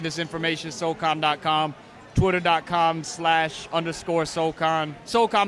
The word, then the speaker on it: Soul Khan: Soulcon, by the way, is spelled Soulkhan.